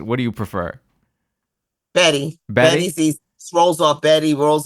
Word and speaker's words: Bette: the time by the way I've heard both pronounced people I've heard you and other people call you Betty Smith or betth which one is what do you prefer Betty Betty Betty rolls off Betty rolls off the tongue